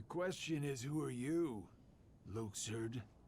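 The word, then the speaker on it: Luxord: is who are you Luke surd Luke sir so that's how you pronounce it I don't think I've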